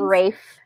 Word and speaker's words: Ralph: It has Ralph Fiennes. Is it Ralph Fiennes? Is that how you say his name? Fiennes? Rafe. It's Rafe Fiennes.